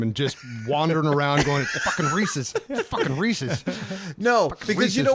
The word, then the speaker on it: Reese's: that that was nice look it up a guy named Reese made something named it after himself the apostrophe shows ownership and it should be pronounced the same way if you're talking about Mike's car Dylan's cheeseburger or noobs cell phone the same applies to the candy made by Reese so whose candy is